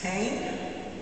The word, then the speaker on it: Hanan: It's Hanan, not Hein, right?